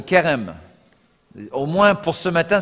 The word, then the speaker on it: Cherem: C-H-E-R-E-M, mais bon, bien évidemment, ce n'est pas la façon de l'écrire en hébreu. Ok. Mais on le prononce Kerem.